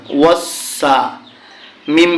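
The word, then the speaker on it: وَالسَّمَاءِ: ওয়াসসা। মিম আলিফ জবর মা। এখানে দেখুন লাল চিহ্ন থাকার কারণে 4 আলিফ টেনে পড়তে হবে।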